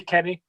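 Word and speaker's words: Kenneh: who's sorry okay i i i don't know how you pronounce his name he's k e double n e h in it kenny yeah it's going to be kenny this this is my this is what boils my piss without under 23.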